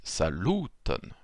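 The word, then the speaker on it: saluton: a ça nous étonne donc sur l'avant-dernière je mets l'accent tonique ici bonne v no l'avant dernière syllabe est ici sur le v12 la couleur orange donc ça donne lorsqu on le prononce sa luton et bonne venen c'est toujours comme ça en espéranto donc au passage sa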